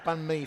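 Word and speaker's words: bánh mì: sisters will be happy to know I ad bun me for dinner tonight oh what was in it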